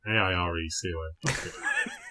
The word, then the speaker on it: Airecon: But that's air like the river. So AIRECON.